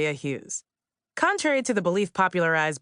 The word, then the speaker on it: Hughes: It's pronounced Akilah Hughes.